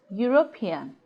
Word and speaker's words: European: we have seen that the yeast sound is a consonant sound and dispelled with letter in U as in Europe eulogy and European that goes to say that European does not begin with a vowel sound remember that what we